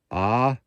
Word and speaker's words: Ajo: The Desert Ajo, spelled A-J-O, so the J is pronounced H, as in Hucumba, not Jacumba.